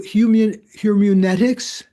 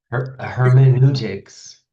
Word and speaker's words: hermeneutics: Uh, so humanetics. What is that, John? What are what are humanics? Am I pronouncing it right? Hermeneutics. Hermeneutics.